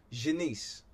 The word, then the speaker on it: Janice: So let's see, it's pronounced like Shanice, but with a J, so Janice.